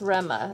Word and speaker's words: Rama: But it's pronounced Rema, as if there was an E there.